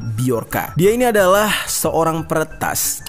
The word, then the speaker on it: Bjorka: Hai nama biarkan tulisannya bhejo RK Ya seperti tulisan nama anaknya Agus Ringgo ini mana Kalau dibacanya bukan Bejo tetapi biarkan dia ini adalah seorang